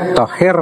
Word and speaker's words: Tahir: sini ngaran orang tu Tahir Abu Bakar Tahir Abu Bakar mujar Sidin berpesan jangan sampai Tertinggal huruf r ampun k tu nah bila membaca kah menyambat kah jangan Tertinggal huruf r-nya thaahir Abu Bakar Tertinggal huruf